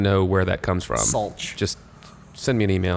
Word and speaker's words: Sulc: Just for the record, since most people don't know, my last name is pronounced Schultz. Thank you. Schultz. If you want to know where that comes from, Sulc.